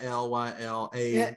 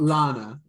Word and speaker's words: Lyla: helpful fun all right is it lyla not lana how do you spell